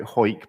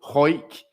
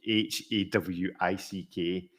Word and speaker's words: Hawick: If it was to give you that word with no, how would you pronounce that? Hawick, brother of Hawick. John Wick. Yes, well, it's Hoik, which is famous for rugby, which is a sport for men.